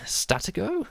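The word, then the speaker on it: Stratego: more on that aspect later the second track statico is how you pronounce it um is one of the better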